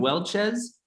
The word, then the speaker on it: Welchez: say your last name welchez like the grape juice yeah yeah oh Welches